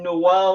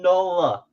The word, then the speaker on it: Nola: I said the name wrong. I said Noel instead of Nola.